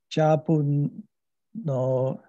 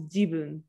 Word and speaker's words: jibun: You pronounce this as jabun. This is ja. So what is it actually? It's my tail. It is my tail, but it's pronounced as jibun.